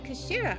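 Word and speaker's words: 頭: of the hilt okay it's written as head in Japanese but it's pronounced as Kashira I believe Kira so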